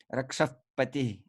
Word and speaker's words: Rakshapati: By the way, here Rakshapati, that visarga, you can pronounce it as a slight f. Rakshapati.